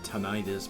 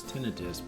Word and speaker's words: tinnitus: I've always pronounced it tinnitus, but apparently the appropriate pronunciation is tinnitus.